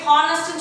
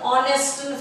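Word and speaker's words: honest: இந்த ஆனஸ்ட்ங்கிற வேர்டு இந்த ஹெச் நீங்கள் ப்ரொனவுன்ஸ் பண்ணக்கூடாது, ஹெச் இஸ் சைலண்ட். ஓகே, ஹானஸ்ட்னு சொல்லக்கூடாது, ஆனஸ்ட்னு சொல்லணும். அதனால தான் நம்ம இங்கே ஆன்ங்கிற ஆர்டிகல் போட்டிருக்கோம், ஏ போடல பார்த்தீங்களா.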